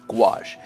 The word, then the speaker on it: gouache: for many years because I didn't know how to pronounce it now once I realized